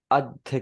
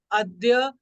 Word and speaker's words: अद्य: अच्छा ये बताओ, आज को अध्य कहते हैं शायद, मुझे उसकी प्रोनाउंसिएशन याद नहीं है बट मुझे लिखना आता है वो। अद्य। अध्या। अद्य है।